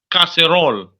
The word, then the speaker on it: casserole: pot pot what does pot mean it means casserole casserole castor oil yes that's c-a-s-s are you